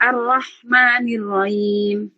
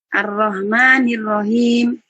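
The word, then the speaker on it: الرحمن الرحيم: ketiga arrahmanirahim sama ya kesalahan yang biasa terjadi yang harus dihati-hati adalah pengucapan huruf ha-nya kadang-kadang ada yang arrahmanirrahim harusnya rahim dibaca rahim atau dibaca ha arrahmanirrahim Makanya H salah ha arrahmanirrahim kalau yang belum bisa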